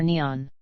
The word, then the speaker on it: Nihon: The name for Japan in Japanese is written using the kanji and is pronounced Nippon or Nihon.